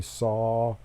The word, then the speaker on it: sau: and you start exhaling you say saw like s.a.w but it's spelled sau but it's like a band saw or a handsaw so when you breathe